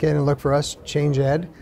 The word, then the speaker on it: ChangED: and look for us changeed spelled like changed pronounced change Ed uh you can also visit our website that where they can directly link into our episodes It's change ed.